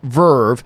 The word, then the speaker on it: VRV: VRV, pronounced Verve, is a combo of Crunchyroll and High Dive.